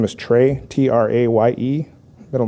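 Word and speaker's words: Traye: It's spelled M-J-E-L-D-E. First name is Trey, T-R-A-Y-E.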